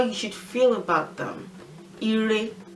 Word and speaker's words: ire: well, ire, ibi, ire, they have no tone marks on them. So rere for ire, rere for ibi. Re is the tone mark. We don't really put any mark on syllables that have the re tone anymore.